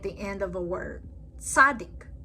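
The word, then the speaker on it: צדי: Tzadik. Tzadik makes a TS sound at the end of the word, like in pants or nuts.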